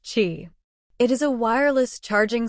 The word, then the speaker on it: Qi: charging pads in its stores another standard isqi pronounced Chi it is a wireless charging standard developed by